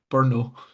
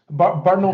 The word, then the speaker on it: Bruno: Bruno Fernandes getting 2, or as some people I've seen pronounce it, Burno. Yes, Bruno Fernandes.